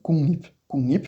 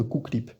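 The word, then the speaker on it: 국립: Si on a Kook, Lip, on va faire les deux règles en même temps. Le diul va se transformer en ion, donc nip, et comme à la fin on a un ion, on va voir le G qui va se transformer en ng, donc kungnip, qui est beaucoup plus facile à dire que kuklip.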